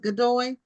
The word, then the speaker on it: Godoy: So your last name is pronounced Godoy?